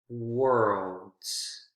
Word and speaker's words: worlds: l d and then because remember with the s when s uh is followed by d consonant sound it has that that z z z consonant sound pronunciation is voiced worlds worlds so those are consonant